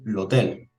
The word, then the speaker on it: hotel: En italiano la letra H no tiene pronunciación, es muda, al igual que en el español.